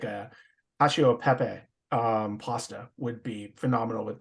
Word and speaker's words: cacio e pepe: Cacio e pepe. Okay, because it's just one C in the middle, and I'm used to the two C's being the cacio.